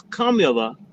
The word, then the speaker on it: Kamala: Or Kamala, however you want to say it. Kamala or Kamala. Cook okay? Yeah. 3 years. She showed us 3 years what she's about. So the proper pronunciation is Kamala.